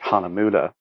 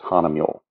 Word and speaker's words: Hahnemühle: the you the oom lot so technically it's pronounced on amudha but in North America we just refer to it as Hana mule give you a bit history Hana mule is